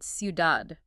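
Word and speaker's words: ciudad: So, a diff thong is basically when two vowels team up and they create this single syllable sound. Think of the word sudad, which means city.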